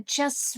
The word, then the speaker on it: just: As you can see, in just t disappears. When we say this word separately, we do say t, just. But in this case, we just skip it because again, we want to sound fluent.